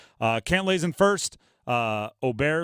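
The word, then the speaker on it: Åberg: klay's in first uh oer L ludvig oer if you pronounce the way his name looks it'd be ludvig Aber Berg I think that's how he's a lot of people know him as uh he's four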